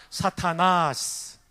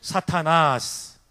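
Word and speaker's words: Σατανᾶς: 사타나스. 예, 발음 좋아요. 다시 한 번만요. 사타나스.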